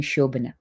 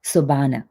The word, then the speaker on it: Sobhana: So, for example, if you look at the spelling of my name, it is Sobhana. So in India, everybody calls me Shobana. But in Canada, they look at the spelling and phonetically they pronounce it Sobana, which is not correct.